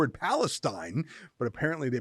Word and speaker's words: Palestine: Ohio Lincoln great to see you am I pronouncing that right they call it Palestine yep you're bang on with the pronunciation all